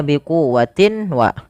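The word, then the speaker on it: بِقُوَّةٍ: Suara tanwinnya masukkan kepada huruf waw dan ditahan. Biquwwatin wa, awalnya biquwwatin wa, karena bertemu waw masuk ke waw dan ditahan.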